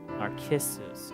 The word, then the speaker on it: Narcissus: Narcissus.